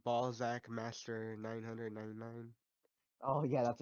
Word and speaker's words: Ballzsack: well, how do you pronounce it? Because Trash says Is it? Balzac, but it looks like it's spelled Balzac Master It because there's no probably is S. Balls Zach Master. I just say the But it's Z Zach because I think it's Yeah, funnier.